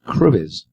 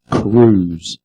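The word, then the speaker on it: Cruwys: her maiden name i always thought it was cruz but debbie says on here it's pronounced cruz an anglo-saxon surname which first appeared in north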